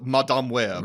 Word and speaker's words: Madame: web bour we do have to say it properly it is Madame web M thank you J